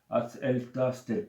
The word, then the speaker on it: Að elta stelpur: donne le nom alors la prononciation c'est en Islande donc elle tasse tel que bon voilà voilà